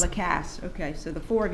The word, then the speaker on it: Lacasse: I'm sorry, how you pronounce it? Lacasse. Lacasse.